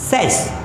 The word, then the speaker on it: says: सी हाउ इट is pronounced, says, says, says। ये straight है, says, लंबा नहीं है, says नहीं है, says, says।